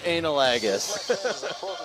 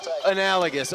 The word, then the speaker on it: analogous: I'm trying to figure out which I am from the intro, whether I'm exemplar or analagus. Analogous. Oh boy, I mispronounced that one a little bit.